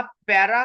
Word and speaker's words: PERA: कुछ लोग इसको पैरा पढ़ेंगे और कुछ इसको पीरा पढ़ेंगे। ये आपकी अपनी प्रोनाउंसिएशन है। जिस तरह जो भी आप इसको प्रोनाउंस जो है वो करना चाहे आप इसको कर सकते हैं।